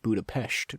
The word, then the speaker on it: Budapest: Also, it's pronounced Budapest.